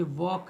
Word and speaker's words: walk: जैसे कि हम आपको बताएं जैसे कि WALK है, ये वॉक है, ये वॉक है, इसमें एल साइलेंट रहेगा।